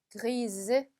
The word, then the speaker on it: grise: 그렇게 되면 발음이 어떻게 되겠어요? grise. 그쵸? 마지막 있는 s가 발음이 살아난다.